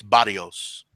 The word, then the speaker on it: Barrios: I guess in Spanish they don't do the better sound. It's Barrios. Barrios. Yeah. You got to roll your R's.